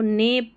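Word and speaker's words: neigh: she visited हर ने एन इ आई जी एच को एन ई आई जी एच को ने पढ़ेंगे ठीक है ने क्योंकि यहां पर जी एच साइलेंट है ने और बी ओ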